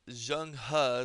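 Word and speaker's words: Zheng He: It's Jungha is how you pronounce this name. I Jang Ha.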